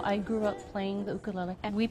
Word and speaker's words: ukulele: In Hawaii, it's part of the culture, so I grew up playing the ukulele. And we pronounce it ukulele.